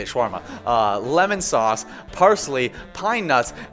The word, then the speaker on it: shawarma: Yes, that's how you say it, shawarma.